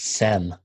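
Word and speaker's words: Saam: Yeah, he pronounces it SEM.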